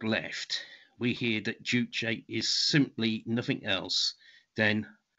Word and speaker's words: juche: character represents a syllable so it's two syllables jew which roughly translates as master and che which means body or oneself so it means master